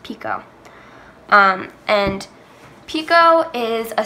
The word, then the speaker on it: picot: ot so it's not peacott and for a long time when I was little and learned that name I pronounced it correctly incorrectly but it is actually French so it's pronounced picot um and picot is